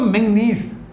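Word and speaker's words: manganese: Mn मतलब मैंगनीज, एक होता है मैग्नीशियम, एक होता है मैंगनीज, इनकी प्रोनाउंसिएशन और सिंबल अलग है मेरे बच्चे।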